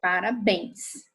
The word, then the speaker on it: parabéns: nós temos uma oxítona talvez nesse exemplo parabéns né a sílaba tônica aí é a última né o bem então essa palavra é